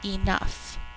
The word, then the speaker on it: enough: Number 5, enough. 2 syllables. I had enough cookies for each friend to have one. Enough. Think to spell E-N-uff. Spell enough out loud. This is using O-U-G-H's third sound.